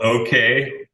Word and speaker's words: OKEJ: It's called OK, and it's spelled OKEJ as if it was the Swedish language.